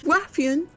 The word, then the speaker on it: Wrathion: emphasis on the w noise. So we say Wrath. Wrathion. Yeah, Wrathion.